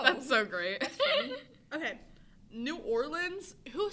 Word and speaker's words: New Orleans: think New Orleans but when I think about just saying it I think I say New Orleans yeah that's the right way to say it New Orleans New Orleans that doesn't make any sense there's no I feel like you'd be Southern there's no lens it's Lan you Lan new or